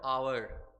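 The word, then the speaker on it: hour: Which article शुड बी use before the word आवर। फिर से वही बात है, एच तो है और एच कॉन्सोनेंट है, लेकिन इसका उच्चारण क्या आ रहा है? आवर।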